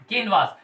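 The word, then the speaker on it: canvass: ठीक है, अगर 14th की बात करूं मैं, तो 14th मतलब क्या होता है, कैनवास। ये क्या है, इनमें थोड़ा सा बोलने में जो प्रोनाउंसिएशन है उसमें चेंज रहेगा। ये कैनवेस है और ये कैनवास है।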